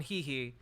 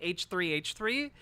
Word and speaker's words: h3h3: and get me on he he which I've now been told is not how you pronounce the name of the the podcast you call it h3h3 which seems silly to